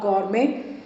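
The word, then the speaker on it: gourmet: तो पहला ऑप्शन है बीइंग विमल अ गौरमे। इसमें टी साइलेंट होता है।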